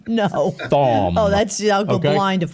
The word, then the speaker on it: Thom: Listen, everybody, to pronounce this guy's name properly, think thong with an M. No. Thom.